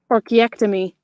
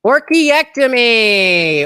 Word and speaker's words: orchiectomy: look it up for the there we go pronunciation this is how you learn guys archaectomy orchiectomy orchiectomy all right the letter keeps capitalizing orchiectomy